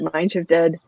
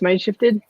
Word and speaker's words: Mindshift ED: that the folks at Mindshift. Wait, am I saying it right? No, it's Mindshifted. What do y'all say? Yeah. Mindshifted is good.